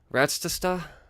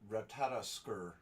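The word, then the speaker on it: Ratatoskr: I'm just gonna call it the Squirrel of Mischief because I can't pronounce its name. Ratstasta? I can't do it. God damn it. That bums me out. Say that word. Ratstastat? Ratatosker.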